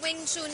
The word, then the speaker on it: Wing Chun: chune Philippines Good morning Wing tun tama tama yung pronunciation Okay so Ano nga